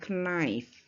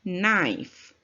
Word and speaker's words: knife: of kalau bentuk tunggalnya nice ini Bu bacanya bukan Knife ya ini silent Keke nya tuh nggak dibunyikan ibunya nice ya maka big become